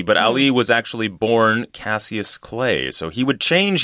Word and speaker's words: Cassius: his given name was Cassius Clay. We say Cassius, where I'm from. Cassius Clay. But, you know, there are different pronunciations, yeah.